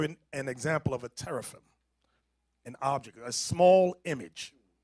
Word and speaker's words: teraphim: Teraphim. Look it up over here. Teraphim. Show them how to spell it.